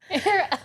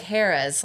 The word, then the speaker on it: Hera: Oh, Hera, Hera. I was in my mind picturing Hera because I'm an idiot. Spelled like Harrah's, like the casinos. Oh, I like that. But it's Hera.